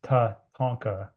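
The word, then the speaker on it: Tatanka: And Tatonka, it's Tatonka is is how you say it in Lakota language is um you know central to everything spirituality, life life ways.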